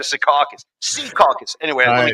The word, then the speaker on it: Secaucus: born in Jersey, when he says Secaucus, he goes, Sea Caucus. He emphasizes the first syllable. Yeah, come on there, it's Sea Caucus instead of Secaucus.